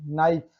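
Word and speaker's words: knife: Rule number 2, जब एन के पहले के आए तो के साइलेंट होता है। देखिए नो, इट is right. नी, एन के पहले क्या आया है। नाइफ, एन के पहले क्या है, ठीक।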